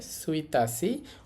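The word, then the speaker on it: 一日: উচ্চারণটা ঠিক নেই। উচ্চারণটা ব্যতিক্রম। উচ্চারণটা হবে সুইতাসি।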